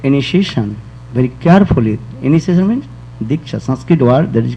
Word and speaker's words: Diksha: Initiation means Diksha, Sanskrit word that is called Diksha. Diksha, the two syllables, Di and Cha.